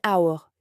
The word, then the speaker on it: hour: Par exemple, an hour, 1 heure. On ne prononce pas le H, on entend aour.